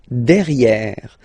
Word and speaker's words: derrière: Derrière. So if you look carefully, you've got E here and then double R, so it will open the sound of this E, and you should pronounce it E, okay?